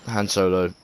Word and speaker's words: Han Solo: han Solo oh yeah how you pronounce it han Solo I know you American viewers joking yeah han Solo that's how he pronounced in England mate so yeah her mouth